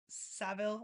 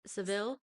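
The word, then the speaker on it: Savile: series about Jimmy uh Savil, I believe is how you say his last name. Yeah, Seville. Yeah. I I feel like the Americans say it wrong like that we say it differently than the the the English do.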